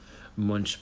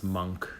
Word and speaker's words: Munch: him Munch, but it's Monk. It's pronounced Monk in Norwegian, the painter, Edvard Munch.